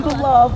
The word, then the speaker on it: Beloved: Hi, and I'm beloved of beloved sweets. Are you love? Yeah, I'm beloved. Beloved. 2 syllables.